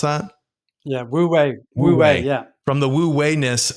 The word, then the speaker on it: wu wei: How did you pronounce that? Yeah. Wu wei.